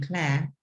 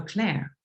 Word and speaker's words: Claire: When I spelled it, they said, oh, Claire. So now I say it like that. I have to use a little bit more of the R sound at the end, and then it's easier for people to understand me.